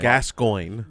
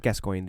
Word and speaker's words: Gascoigne: makes it sound terror I said his name wrong this whole episode Gascoigne no not gues going the Guerlain gehrman gehrman